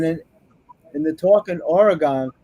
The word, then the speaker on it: Oregon: And then in the talk in Oregon, I still say Oregon. They told me I'm saying it wrong. They'll say Oregon.